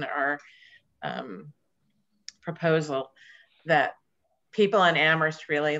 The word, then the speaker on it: Amherst: proposal that people in Amherst really like to discuss. The H is the only thing that is silent.